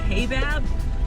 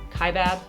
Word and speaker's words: Kaibab: I've been saying Kaibab, which is definitely wrong.